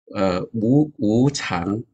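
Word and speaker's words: 無常: So in some of the Chinese texts that we read, it's like wu chang is the pronunciation.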